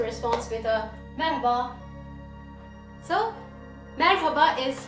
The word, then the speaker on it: merhaba: other person also responds with a member so merhaba is how you say hello in turkish after